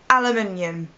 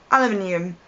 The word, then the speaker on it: aluminium: really weird as well and that's the word aluminium now if you're American you have no idea what I'm talking about it's aluminum to you aluminum aluminium spelled exactly the same way pronounced completely differently